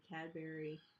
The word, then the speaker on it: Cadbury: pronounced Cadbury Cadbury Cadbury sounds like strawberry strawberry um Turtle chips